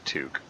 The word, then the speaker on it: toque: Also, I'd also cringe if I heard someone pronounce his talk. Yeah. Yeah, like it even says right in the game it's pronounced toque.